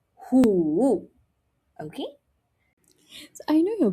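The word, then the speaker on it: 虎: Five is woo woo Tiger is hoo. Hoo. Same tone here, right? So, it makes it easier, but the sound is different.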